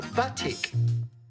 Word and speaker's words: batik: I like to call this bath chic. And today, one of the projects we're gonna explore with Shalom is called a batik. It rhymes.